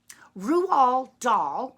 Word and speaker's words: Roald Dahl: well guess what rule all doll yes that's how you say his name I can prove it